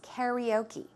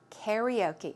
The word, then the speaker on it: karaoke: in Korean right but the English way of the American English way to pronounce it is karaoke karaoke okay so she yes